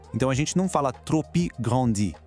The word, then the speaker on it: trop grand: Na expressão trop grand, que significa grande demais, tanto o P de trop quanto o D de grand são silenciosos. Então a gente não fala trop grandi, e sim trop grand.